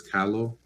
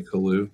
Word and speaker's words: Kalu: just started talking um proper way to say my name is calo but everyone just kind of it's just easier for people to say kahlu out here and uh